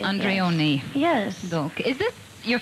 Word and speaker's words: Andreone: Is that the right way to pronounce it? Perfectly, Leah Andreone.